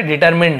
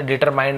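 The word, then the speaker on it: determined: विन the competition and यहां पे डिटरमिन है ना मैं शायद गलत प्रोनंसिएशन कर डिटरमाइंड ऐसे बोल दिया था ऐसे एक्चुअल में है डिटरमिन एक साथ पढ़ेंगे ईडी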